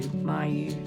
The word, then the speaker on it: Mayu: thing that I have it's called a Mayu or m-a-y-u myu swirl is how they pronounce it and it actually oxygenates